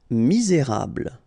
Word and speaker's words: misérable: Misérable. Okay, don't insist on the final here. You get this bl sound at the end. Okay, misé, et because you've got this accent aigu, rable, misérable.